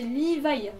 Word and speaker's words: Livaï: correcte est ainsi mais n'alllez pas prononcer liva comme Levy he alors ça non juste non non non et non ce n'est pas BHL